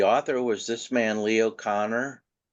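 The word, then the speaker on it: Kanner: it was the author was this man Leo Connor spelled caner but it's pronounced Connor he was from Austria he was a child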